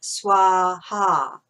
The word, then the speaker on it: Swaha: And then when you see Swaha, you see the accent on top. That means that the A is a long, open ah sound, Swaha.